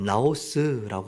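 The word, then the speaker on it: ναός: 여기서 말하는 성전.이 성전은 헬라어로 나오스라고 합니다. 우리 한번 해 볼까요? 나오스. 나오스. 네. 여러분, 발음이 잘 안 돼도 이거 뭐 이거는 쉬운 발음인 거 같아요.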